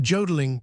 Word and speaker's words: jodling: The jodling pronounced wodling emphasis on the o continued and was very pleasant and inspiriting to hear.